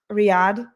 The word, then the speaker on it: Riyadh: How would you pronounce that name? Right? Riyadh. Riyadh.